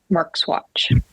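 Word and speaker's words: Marxuach: that is almost unpronouncable I'll pronounce it for you it's Javier Grio marks watchat like Mark apost as watch Mark's watch um that's how the last name is pronounced and I know this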